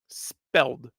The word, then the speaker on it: Lititz: So it's LIT and then it's ITZ. We would pronounce it as an S, like it's like it is.